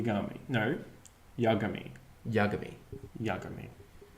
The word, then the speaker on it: Yagami: Light Yagami that was the whitest pronunciation no hey no to say but you go me Yagami it's Yagami Jack you mean boy you da me right